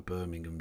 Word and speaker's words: Birmingham: I know the point you're making there, the letter from a Birmingham jail. And yes, I pronounced Birmingham correctly there. Alabama, you are wrong.